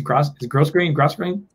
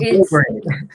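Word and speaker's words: grosgrain: So you're gonna see that how do you say this? It's gross grain? It's called grow grain. It's grow grain.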